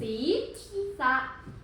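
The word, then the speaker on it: ศีรษะ: อัน นี้ อะไร คะ ภาพ นี้ คือ ศี สี สะ สี สะ หรือ ว่า หัว อ่า ทวน อีก ครั้ง นึง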